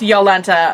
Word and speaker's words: Jolenta: How how how is how is Yolenta fitting into all this? Um spelled Jolenta pronounced Yolenta apparently.